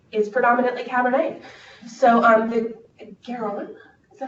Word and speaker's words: Garonne: So the Garonne, is that how you say it?